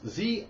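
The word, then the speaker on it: xia: mispronounce this one it's Z it's x i a and apparently it's a u it's a Chinese version of a samurai Paladin and I'm going to say Z that's what I'm thinking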